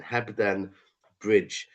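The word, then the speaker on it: Hebden Bridge: Uh it's H E B D E N. Heben Bridge.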